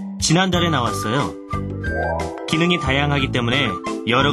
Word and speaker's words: 지난달에: 한글로 쓸 때는 지난달에 이렇게 쓰지만요. 발음할 때는 지난달에 이렇게 발음하셔야 됩니다. Trong tiếng Hàn khi được viết là 지난달에 nhưng khi phát âm được nói là 지난달에.